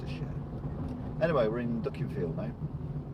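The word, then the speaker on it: Dukinfield: Anyway, we're in Duckingfield now. It's a real name. It's not spelled duck as in duck, it's spelled duck as in D-U-K, infield. Not in a field, infield.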